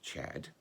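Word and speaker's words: Cedd: own country and it said that four brothers came let me read their names the first one is spelt c-e-d-d which you would want to pronounce said but it's actually more usually pronounced chad the next one was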